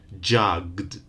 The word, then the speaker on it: jugged: not bright but bribed jug final sound it's a voiced in the past jugged we don't add an extra vowel in therefore no extra syllable live lived name named